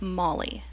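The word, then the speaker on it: Mhaili: say it out loud it is pronounced like Molly and I've been using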